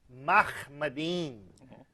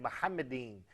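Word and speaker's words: מחמדים: First of all, that is a mispronunciation of the Hebrew term, which is Mahmadin, not he said Muhammadin. But even that eem is wrong, but he did not pronounce the Hebrew khe. It's Mahmadin.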